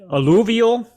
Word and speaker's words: alluvial: How do you pronounce it? Is it alluvial?